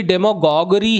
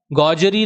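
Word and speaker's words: demagoguery: याद रखिएगा डेमगॉग और यह भी डेमगॉगरी है गजरी नहीं है वहां पर पेडागोजी था यह डेमगॉगरी है अरे सर स्पेलिंग बहुत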